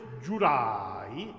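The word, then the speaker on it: giurai: Can the word is jurai, the accent is on the ra.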